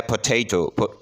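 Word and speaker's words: potato: इसमें भी साइलें है नंबर तीन जो है वो है पोटेटो इसमें सेकंड सेलेबल स्ट्रेस है इसके बाद है बेडरूम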